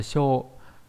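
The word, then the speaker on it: 性: Âm ôn là C hoặc là Sho. Trong đó cái cách đọc là C nhiều hơn.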